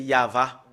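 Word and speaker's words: יהוה: première partie y et voilà comment on le prononce voilà le fait de le prononcer c'est yava nous allons le faire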